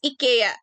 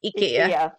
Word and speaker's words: IKEA: IKEA has food, yes.